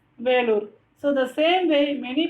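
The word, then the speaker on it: Vellore: So Velur it is in Tamil and in English Vellur. So we have to pronounce it as Velur.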